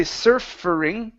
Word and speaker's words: surfing: surfing okay all right now we don't want to say surfing okay cuz it almost sounds like you're saying suffering okay so it's surfing surfing surfing surfing surfing good